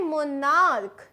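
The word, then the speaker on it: monarch: लेकिन अगर यहाँ है मोनार्क, यहाँ पे सी एच का जो प्रोनाउंसिएशन है वो है क, तब उसमें सिंपली एक एस लगेगा.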